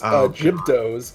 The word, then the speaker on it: Gibdos: And Lady Boxthief pointing out that the correct pronunciation is Gibdos.